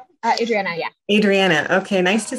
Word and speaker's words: Adriana: Adriana, yeah.